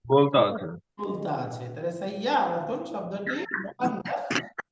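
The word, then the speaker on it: سَيَّارَةٌ: গাড়িকে আরবিতে বলে সাইয়ারাতুন। সাইয়ার, হ্যাঁ বলেন তো, সাইয়ারাতুন। উচ্চারণ সাইয়ার, হবে সাইয়ারাতুন, সাইয়ারাতুন। একটু বলেন আমার সাথে, সাইয়ারাতুন।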